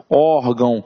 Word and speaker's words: órgão: E eu digo órgão. Então, a sílaba tônica está aqui, ó, no or.